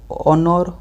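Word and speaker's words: honour: तो hair ऑनर honest आवर। तेणु सब देखो एच अच्छी कि साउंड हो ओ आ।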